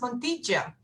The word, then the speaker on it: Montilla: It's pronounced Montilla, which I wouldn't have guessed, not being a Spanish speaker.